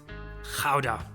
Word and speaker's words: Gouda: Gouda. Not Gouda.